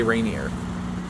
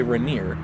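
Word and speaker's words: Rainier: about how people say Reneer across the country, how how does everyone say Reneer and they don't it up and say Reineer cuz it's spelled like that or or Ranier even cuz it's spelled like that, right?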